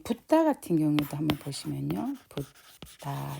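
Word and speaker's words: buddha: 붓다 이러면은 여기는 부가 되고 다 여기서는 엄밀히 말하면 DA가 다예요. 그런데 이제 여기 H가 하나 있으니까 원래 그 발음들하면은 그 된 소리가 좀 들어가요. 이게 들어가서 붓다 이렇게 발음해야 되지만 우리로서는 그렇게 발음하기 힘들잖아요.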